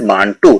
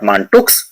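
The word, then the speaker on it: Mantoux: m a n t u x it is pronounced as Manu not manuk it is m a n t o u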